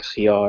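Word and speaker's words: خيار: pronounce it, but otherwise you have to pronounce it as a very hard H sound. And for example, in the word khiyar, or cucumber, and one of the examples is Christos.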